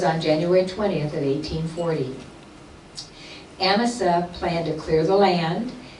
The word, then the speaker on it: Amasa: I always had pronounced it Amasa, but she said Amasa, and I'm sure she knows.